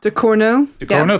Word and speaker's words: Ducournau: Charlie Ridgewell has given me a name I can't pronounce. Julia Ducournau? Ducournau, Thank you.